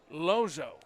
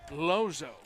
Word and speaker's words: Lozo: we're not pronouncing right it's lozo lozo yep i have that from a good source okay i i don't ever reveal my sources lozo lozo so it's first